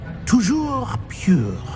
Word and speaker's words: toujours pur: I order you to pronounce it for me. Oh, Master knows that Scrope's French is most pitiful. Very well. Toujours pure.